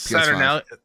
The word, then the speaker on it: Saturnalia: I wish I could pronounce that. It's Saturnalia.